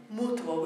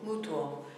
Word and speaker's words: mutuo: Mutuo, which means mutual, mutuo. Again, two syllable word, beat on the first u, mutuo. Uo being a combined single syllable sound.